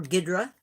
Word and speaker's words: King Ghidorah: This is King Ghidorah, or Ghidra, depending upon how you pronounce it.